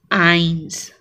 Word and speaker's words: eins: Eins. Here one more trick. EI will always be pronounced as I of English, and IE will always be pronounced as E of English.